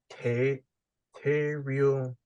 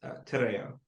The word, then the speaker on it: Te Reo: Te Real Maori. It's Tereo. Tereo. Roll on the R.